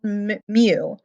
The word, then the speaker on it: mu: that is we call it it's it's called mu pronounced like you know meow meow um and it's